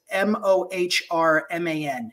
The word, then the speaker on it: Mohrman: She read for our panel, but it is Mohrman is her last name. And she grew up in Utah, but she wasn't Latter-day Saint. And so she laughs at her name. Was phonetically Mormon, but anyway, it's a funny story.